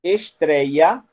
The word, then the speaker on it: estreia: Mas em estreia, o trei está na penúltima sílaba.